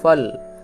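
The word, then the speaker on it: fall: তাহলে এক্ষেত্রে এ ভালটি অ এর মত উচ্চারিত হলো।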